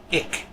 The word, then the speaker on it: ik: The short I is pronounced I, much like the short I in English, as in this word, ik.